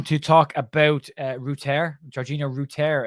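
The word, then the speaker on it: Georginio Rutter: talk about uh router Georgina Rooter is how it's pronounced currently uh Georgina Rooter and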